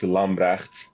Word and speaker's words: Lambrechts: It's pronounced Lamre, but since I am an American citizen and I live amongst Americans, Lamre is fine.